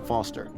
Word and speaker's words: Foster: this is it I'm Foster I'll remember that easy because your name rhymes with fossil and you're old thanks kid roundabout oh that's what I learned about it sucks stealing mr.